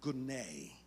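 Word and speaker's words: γυνή: That word woman in the Greek is the word gune. Gune. It sounds like it's spelled g o n a y, but it's actually spelled g y n a i.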